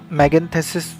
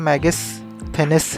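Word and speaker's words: Megasthenes: फिर एक करेक्शन था जो लेक्चर 2 में ना मैगेंथेसिस के बारे में जो बताया था, एक्चुअली उसका प्रोनाउंसिएशन मैगेस्थेनिस है.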